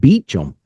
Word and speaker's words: Beauchamp: So his last name, I would call it Beauchamp, but he pronounces it Beecham because he's been down in the States so long.